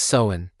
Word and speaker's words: Samhain: This was the world of the Selts and this was the night of Seamine. Pronounced soen.